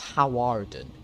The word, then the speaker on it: Hawarden: It's Hawarden is the official. That's what it says on the sheet of paper. But you apparently pronounce it Harden, which I did not know. That's how you pronounce it.